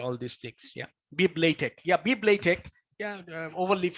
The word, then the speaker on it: LaTeX: So again, I'll refer to this, that, yeah, we pronounce LaTeX. Yeah, we say LaTeX, not latex, LaTeX.